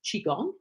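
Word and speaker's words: Qigong: have more of it the Chiang is pronounced chiong and it was developed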